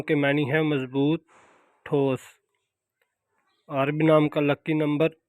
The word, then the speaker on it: عارب: بسم اللہ الرحمن الرحیم۔ السلام علیکم۔ نام ہے عارب۔ عارب نام کے انگلش میں سپیلنگ ہے ARIB، عارب۔ جنس عارب نام کی